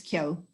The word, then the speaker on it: Keogh: idea so forward my mother's maiden name is kyo so but the funny thing is tracy when